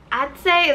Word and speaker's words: Adze: Adze, is that how you say it?